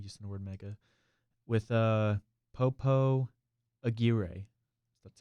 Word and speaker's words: Popo Aguirre: With Popo Aguirre. That's how it's pronounced.